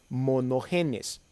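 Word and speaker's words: μονογενής: aquí estamos usando una palabra griega que se pronuncia mono genes y es quiere decir que no hay ningún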